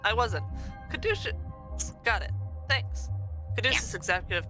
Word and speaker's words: Caduceus: Caduceus is how you pronounce that. Thank you. Sorry, I paused because I was trying to determine if I was about to sneeze or not. I wasn't. Caduceus.